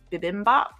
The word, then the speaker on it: bibimbap: So I ordered like some glass noodles and I think it's pronounced bibimbap.